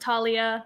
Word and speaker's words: Thalia: They're like, yeah, I was like, my name is spelled Thalia, but people always pronounce it Talia. So, but if you pronounce it Thalia, I don't care.